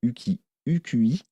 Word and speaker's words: UKUI: Et alors là, ils ont carrément une nouvelle interface graphique, qui s'appelle UQI. Ça s'écrit UKUI. Et donc ça, de ce côté-là, ça peut être assez sympa.